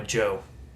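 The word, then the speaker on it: Djo: And then End of Beginning by Joe. So it's spelled D-J-O, Joe Carey, the guy from Stranger Things.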